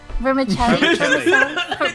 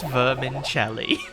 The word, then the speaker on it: vermicelli: sweet the sweet the the vermis vermicelli I can't say it it's not pronounced Vermin Shelly look there are some